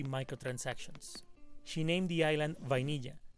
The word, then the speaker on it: vainilla: She named the island Vainilla, because that is how vanilla is pronounced in Spanish, and it's a sweet name.